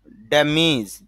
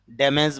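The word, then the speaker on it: damage: ড্যামেজ, যদিও আমরা এই উচ্চারণটা ড্যামেজ বলি, তবে IPA-তে খেয়াল করলে দেখা যায় ড্যামিজ, এই জন্য উচ্চারণ করতে হবে ড্যামিজ। এইভাবে বলা যাবে না ড্যামেজ।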